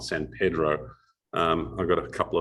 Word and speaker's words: San Pedro: the time was that you pronounce san pedro and not san pedro um i got a